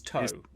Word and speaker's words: Tow: name is so their their given name is toe toe yeah t-o-w not uh not uh it's spell it's spelled on the screen right there t-o-w absolutely um right so uh background